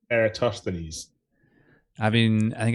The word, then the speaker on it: Eratosthenes: I would have said Eratosthenes. I think I played quite a lot of Assassin's Creed,